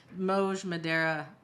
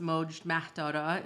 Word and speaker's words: Moj Mahdara: I need a Gentile name because Moj Madera, but correctly pronounced Moj Mahdara is just like it's not going to cut it.